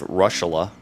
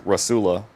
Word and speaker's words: Russula: There was Russula. Believe it or not, one pronunciation was Russula. Another pronunciation was Rasula. Or Russula. And then another one was Rossula.